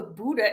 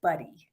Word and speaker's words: Budde: you know it's funny it's actually a german name so buddha would be how you say it but everybody around here says buddy so oh nobody but